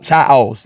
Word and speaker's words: Chao: Childs. It's spelled Child.